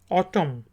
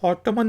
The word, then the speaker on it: autumn: AUTUMN, ऑटम। तो इसको ऑटमन नहीं कहेंगे, ऑटम।